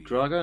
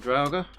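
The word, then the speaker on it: Draugr: there if I were Drago not dragger I'm saying it wrong all this time I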